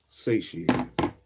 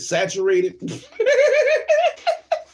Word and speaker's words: satiated: d s how the you pronounce that sat a i a t e d satiate satiated I'm tripping satiated what I said saturated tripping satiated they haven't satiated that instinctual need